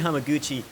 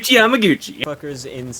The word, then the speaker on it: Hamaguchi: car directed by ryuchi hamaguchi of course jesus surprised i thought you were actually going into the episode yeah i was not recording and then you mispronounced the director's name yamaguchi in